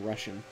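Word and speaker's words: Rushen: one big castle castle russian castle russian i mean it's spelled r-u-s-h-e-n i can't think of any other pronunciation like that might not be the pronunciation but oh gibraltar also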